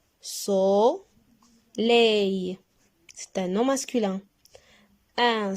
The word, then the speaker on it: soleil: Soleil. C'est un nom masculin. Un soleil. Répétez. Bravo. Ça. Réveil. Réveil. Encore deux syllabes. Et le son ei dans la deuxième syllabe.